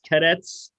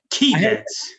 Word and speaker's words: Keydets: Is Cadets? Or is it? It is. Well, it's the Keydets. I was going to say, I heard them call them the Keydets when I was watching the game. Yeah. It's spelled key.